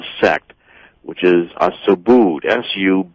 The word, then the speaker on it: Subud: are the author called effect which is a so booed su b UD that's how that's pronounced as well I mean so su su